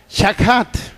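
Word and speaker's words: שחת: lleva o se pronuncia shahat shahat s h a K H at shahat la la H se traduce como o se pronuncia más bien como J shahat usted lo va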